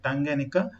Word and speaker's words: Tanganyika: ಇದು ಲೇಕ್ ಟಾಂಗನೈಕಾ ಅಂತ ಹೇಳಿ, lake ಟಾಂಗ್ಯಾನಿಕಾ, we pronounce it as Lake Tanganyika.